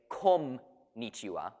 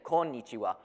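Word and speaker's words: こんにちは: konichiwa it's it's pretty it's pronounced as an N rather than an M but I've never heard anybody say come mitsuwa people say konichiwa why because they know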